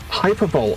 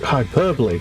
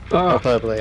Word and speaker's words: hyperbole: Hyperbolt. Oh, come on. Pronounce it hyperbole. Surely hyperbole. H.